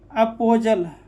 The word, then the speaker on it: apostle: वैसे अब अगला पर चलते हैं 28 नंबर, T लेटर को साइलेंट करते हैं अगर यह L के पहले आए। याद रखो, T लेटर तभी साइलेंट होता है यह L के पहले, अगर L के पहले T आए तो क्या हो जाएगा, T साइलेंट होता है। जैसे अपोजल, APOSTLE, तो T क्या हो जाएगा, T